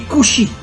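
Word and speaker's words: כושי: En hébreu, le mot noir se dit kushi. Alors bien sûr, vous connaissez pas l'hébreu, mais faites-moi confiance. Le mot kushi s'écrit en hébreu Kaf Vav Shin Yud.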